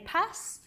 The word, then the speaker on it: PaaS: people and and uh some people say pass uh for this p